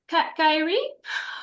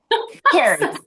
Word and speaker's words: Carrie: Kyrie. I'm sorry. Then I'll just butchered your name. Carrie. It's It is Carrie.